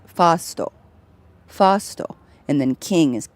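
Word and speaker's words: ファースト: And in Japanese, first is pronounced fasto.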